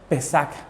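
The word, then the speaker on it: פסח: el original hebreo hermano la palabra pascua se escribe y se lee así pesar eso es pascua en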